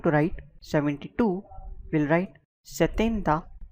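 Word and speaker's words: setenta: 70 is called as satenda.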